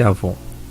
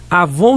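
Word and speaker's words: עון: cosméticos e perfumes avon mas a pronúncia forma transliterado escreve se com w mas esse avon avon significa iniqüidade lembra do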